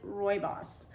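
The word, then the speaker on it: rooibos: word looks like rooney bose but it's roibos and roy boss tea is a red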